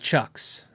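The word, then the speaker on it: CIOKS: 220 dollars i use the chucks c-i-o-k-s i'm pretty sure that's the proper pronunciation i use chuck's power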